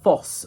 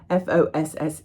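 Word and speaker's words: Fosse: Foss or FSY. F O SS E.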